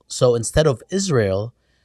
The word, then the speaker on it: Israel: The trick is not to pronounce the A in Israel. So instead of Israel, it's Israel.